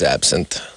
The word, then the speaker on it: absinthe: How do you say that? Absinthe? Yeah, it's Absinthe.